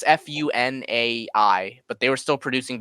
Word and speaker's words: Funai: No, I don't know how to pronounce it. It's Funai, but they were still producing VHSs up to